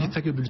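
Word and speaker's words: Lita Cabellut: Lita Kabelut, c'est comme ça qu'on prononce ça? Lita Kabelut, absolument.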